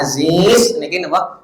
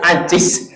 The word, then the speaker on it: Aziz: ngih orang memanggil Pak Aziz Aziz Aziz Perkasa ya bukan Ajis Ais Tad lemah Muhammad jadi